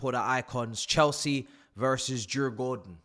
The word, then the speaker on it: Djurgården: Chelsea versus Jur Gordon. I'm going to start pronouncing this as the Swedish have told me to pronounce it for today because I'm going